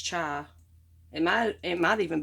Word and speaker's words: chai: how you say it i always struggle with how to say that i don't know if it's cha or kai but i'm pretty sure it's chai it might it might